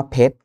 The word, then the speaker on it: เพชร: หลัง พยัญชนะ ท้าย นะ อย่าง เช่น คำ ว่า เพชร นะ ครับ ร เรือ ก็ ไม่ ออก เสียง เกษตร ร เรือ ก็